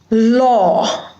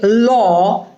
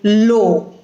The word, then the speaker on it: law: broad o sound so instead of saying law you must have heard someone say lo but if you say lo the meaning will get changed so if you are talking about law it has to be a broad sound law or tall not toll because the